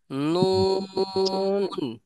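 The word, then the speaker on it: نون: এই সুজা এই সুজা নুন চওড়া অবস্থায় থাকবে হ্যাঁ এই যে এই দুইটা অবস্থায় চওড়া অবস্থায় থাকবে এবং নাকের ভিতরে যাবে এটা যখন বলবো যেমন নুন নুন কি শোনা যাচ্ছে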